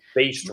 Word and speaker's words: Based Records: Matt with Boston records tell me if I'm not pronouncing that right based records based okay yeah there we go yeah so like so like think based b-a-s-e-d but like a baster gotcha gotcha okay well